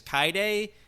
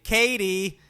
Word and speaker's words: Cade: first, how the Cade, it's spelled Cade, explodes. It's weird how, because I don't know about the rest of y'all, we watched the dub on Amazon Prime, and I'm pretty sure the girl's name is Kaide, but the English voice actor, they probably weren't given a pronunciation guide, so they say Katie.